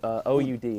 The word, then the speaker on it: oud: My mom actually went and traveled to Lebanon very recently and brought back an oud, which is a traditional instrument, Arabic instrument. It's an oud, O-U-D. It's pronounced oud, yeah.